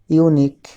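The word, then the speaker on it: unique: Suppose ইউনিক, আমরা word দুটি লিখলাম ইউনিক ম্যাটার্স। এখানে ইউনিক শব্দটি ইউ দিয়ে শুরু হয়েছে, অর্থাৎ উচ্চারণও হচ্ছে ইউ।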